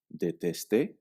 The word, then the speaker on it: détester: Note the difference in pronunciation when we change the ending of the verb. Détester, déteste.